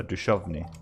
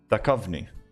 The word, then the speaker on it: Duchovny: Because when I see TH in Sweden, we pronounce that sh. So Duchovny is how we would pronounce that.